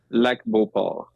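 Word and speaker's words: Lac-Beauport: I want to please correct my pronunciation here. Is it La Beauport in Quebec? Is this the Lac Beauport?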